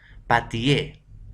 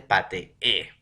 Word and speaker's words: pateé: Patié, no es incorrecto, es incorrecto, se dice pateé, ¿ya?